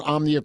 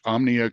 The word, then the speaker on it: Omnia: can just Google search Omnia creative uh that's spelled om M as in Michael N as in Nancy I a uh a lot of people just say Omni creative and they forget the a so uh it's crucial